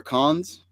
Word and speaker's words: Cannes: Con. It's con. Yeah. Is it it's really? Con. Do not pronounce the S. It's con.